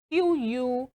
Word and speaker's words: queue: This other one now is Q U E U E that should be qu.